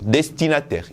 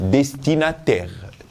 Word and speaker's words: destinataire: Écoutez bien la prononciation, destinataire. Ici, c'est destinateur, mais là, c'est destinataire. Donc, destinataire. OK? Regardez la différence, c'est ici. E-U-R, et là, c'est A-I-R-E.